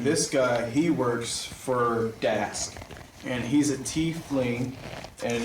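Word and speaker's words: Daask: Dask.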